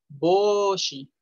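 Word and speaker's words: 帽子: Y recuerden, o, u se pronuncia o. Boshi.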